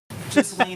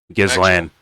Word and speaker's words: Ghislaine: Ghislaine. Ghislaine. It's Ghislaine or Ghislaine. Like the S might be silent.